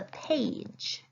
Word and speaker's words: page: It's making the A say its name, but it's also making that G a soft G.